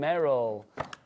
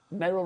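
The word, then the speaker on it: Meral: Sylvia, Anne, Amy, Cellini and Meryl. Cellini, I don't know if I'm saying it right. Or Meryl, M-E-R-A-L, Meryl. Meryl. There you go. Merrill rhymes with Beryl.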